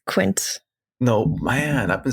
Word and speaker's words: Quint: is Jaws and of course I'm talking about quince who is on the USS holy I always thought I would pronounce is Quint it's Quint no man I've been saying the name like